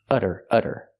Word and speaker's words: udder: This one's spelled differently. It has a double D. And we do the same pronunciation, the fast D sound. Utter, utter.